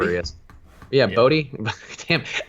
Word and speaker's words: Bote: Bodie. Damn, there were three possible pronunciations, and I got two of the incorrect ones up front. But David Bodie, Bote, put an accent on there, Bote, and Wilson Contreras.